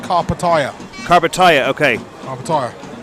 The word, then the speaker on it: Karpatalya: the Pierre who I've also been told that carpet area is now pronounced carpet aya carb attire okay I'm tired apparently live a